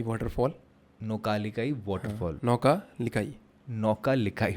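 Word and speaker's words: Nohkalikai: बताता हूं प्लेस का नाम क्या है इट्स नौका लिकाई वाटरफॉल नौका लिकाई वाटरफॉल नौका लिकाई नौका लिकाई वाटरफॉल ओके वहां का मतलब प्रोनाउंस करने में काफी दिक्कत आने वाली है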